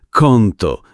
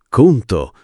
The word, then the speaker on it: conto: Menù conto conto non conto, ma conto con la o chiusa.